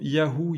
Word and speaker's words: Yahvé: Selon des auteurs grecs de l'Antiquité, qu'on appelle pères de l'Église, comme Clément d'Alexandrie au 2e, 3e siècle après Jésus-Christ, la prononciation était Yahvé, d'où cette tradition de prononcer Yahvé qu'on a conservée. D'autres auteurs chrétiens mentionnent la prononciation Yahou, Yahoo.